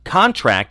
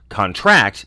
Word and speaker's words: contract: When a word has multiple meanings in virtually all classes, the noun form stresses the first syllable and verb stresses the last. For example, contract is a noun, contract is a verb.